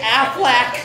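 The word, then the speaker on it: Aflac: you would just say just say afflac like a duck say it like a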